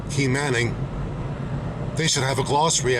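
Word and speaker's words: Quemahoning: Quaymahoning is pronounced Key Manning.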